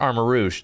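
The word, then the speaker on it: Armarouge: a french guy and I can confirm it's pronounced armor Rouge that's what I'm saying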